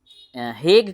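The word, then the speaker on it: Hague: convention हग convention या हेग convention H ए जी यू ई हेग कुछ लोग हेगयू पढ़ते हैं वैसे ये हेग होता है एच ए जी you silent है हेग तो हेग कन्वेंशन 1938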